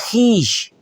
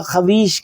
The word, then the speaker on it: خویش: ہمارے اردو میں لوگ اس کا جو ہے وہ تلفظ کئی دفعہ خویش کرتے ہیں، جبکہ یہ ایسا نہیں ہے. یہ ہے اول خیش بعد درویش.